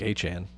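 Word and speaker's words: Etienne: Uh or as he said, his name is actually pronounced more like Achan. Uh but uh Travis ETN going to the Saints.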